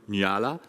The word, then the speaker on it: Nyala: He's from Nyala. Do I pronounce that correct? Nyala is correct.